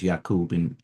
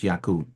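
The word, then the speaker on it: يعقوب: That's how they Jacob is can be uh pronounced as Yaqub. In English, it's Jacob. In Arabic, it's Yaqub.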